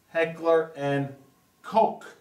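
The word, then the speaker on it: Heckler & Koch: pronounce h and k Heckler and Coke like c o k e that's out of the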